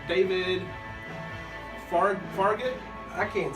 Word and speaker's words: Farragut: Farragut, we think that's how you pronounce that. We think that's how you pronounce it. It's spelled Farragut. Okay. It may be gut, Farragut. That's not his. No, it's Farragut.